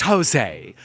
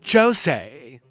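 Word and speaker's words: José: Oh my god, it's pronounced Jose, not Jose. પણ અહીંયા તો જે લખ્યો છે. Spanish J is H.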